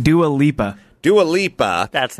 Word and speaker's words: Dua Lipa: Dua Lipa.